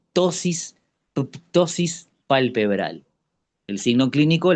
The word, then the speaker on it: ptosis: El signo clínico se denominais, se escribe con p al principio, tosis pctosis palpebral.